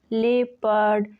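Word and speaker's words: leopard: Rule है अगर किसी वर्ड में ईओ या ओ यू आए तो ओ साइलेंट रहता है। For example people, लेपर्ड, जेपड़ी। इन तीनों वर्ड्स में ई के बाद ओ आया है, इन तीनों वर्ड्स में ओ साइलेंट है।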